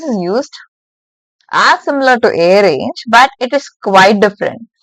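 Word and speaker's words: arange: It is not actually a range. Some might mispronounce it just by seeing this for the first time. This is actually a range. A range.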